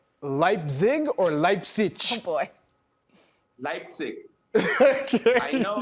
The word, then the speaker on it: Leipzig: I'm from Berlin, I would say Leipzig.